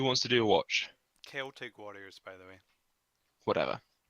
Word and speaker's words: Celtic: Celtic warriors, by the way. Whatever. There's no soft C in the Celtic language.